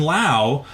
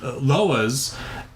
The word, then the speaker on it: Loa: that demon is actually a Haitian Lao that like he was talking about, or Loa. I'm sorry, I pronounce it wrong.